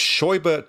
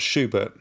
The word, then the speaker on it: Scheubert: So it's Scheubert, not Schubert. Yeah, but very close to the composer Schubert, yeah.